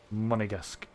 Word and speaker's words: Monegasque: Monegasque. Yeah, there we go. I don't know why I've been pronouncing it so badly.